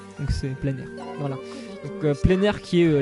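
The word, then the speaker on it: Pleinair: français plein air c'est ça se prononce vraiment comme le mot en plein air donc c'est pleinir voilà plein air qui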